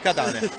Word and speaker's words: Katane: Sì, abbiamo finalmente chiarito l'accento dove deve stare, perché comunque fra Catane e Catane abbiamo capito che è Catane, da ora in poi, esatto, sì, da ora in poi non sbaglieremo più.